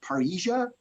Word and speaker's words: parrhesia: Greek word, it means it's pronounced parrhesia, spelled P-A-R-R-H-E-S-I-A. Parrhesia is courageous speech or fearless speech.